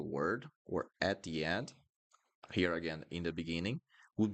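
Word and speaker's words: rir: I'm going to pronounce this as he, he. I know this one is hard. He. At the end of words would sound like this. He.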